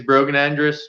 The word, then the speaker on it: Brogan Andrus: that's my social medias brogan andrus whether it's facebook or instagram everybody mispronounces his name but they shouldn't because exactly how it's spelled yeah yeah it's phonetic yeah sonic like yeah he's